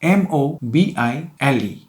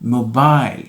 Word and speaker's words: mobile: Word number 6 is M-O-B-I-L-E. It is pronounced mobile in British English, while mobile is American.